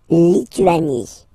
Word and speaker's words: Lituanie: Lettonie, La, Lettonie, La, Lituanie. Remember in French, sorry, H doesn't exist, okay, so you don't pronounce it and it's Li, Tu, A, Ni, Lituanie, La, Lituanie.